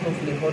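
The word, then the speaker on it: تُفْلِحُونَ: Tuflihun di situ adalah mad arif lisukun. Walaupun tulisannya tuflihuna, tetapi kita membacanya tuflihun.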